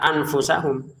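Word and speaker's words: أَنْفُسَهُمْ: Anfu, tahan 2 harokat. Jangan dibaca anfusahum, tapi anfusahum gitu. Jadi kalau sudah ditahan, itulah kesempurnaannya nanti.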